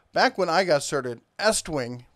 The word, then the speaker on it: Estwing: Now, back when I got started, Estwing rhymes with West Wing.